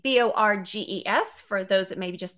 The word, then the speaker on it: Borges: And on the screen here, last name, B-O-R-G-E-S, for those that maybe just be listening. Borges? Did I say it right? Yes, Borges. Yes, you did.